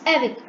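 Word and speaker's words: avec: down i'll display the meaning and it is pronounced as evic listen to it again okay and its meaning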